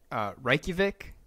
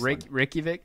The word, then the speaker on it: Reykjavik: Reykjavik. That's how you pronounce it. Yeah, nice. Reykjavik.